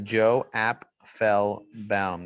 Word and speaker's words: Joe Apfelbaum: actually listen to this my name is joe app fell bound that's how you pronounce my name isn't that cool i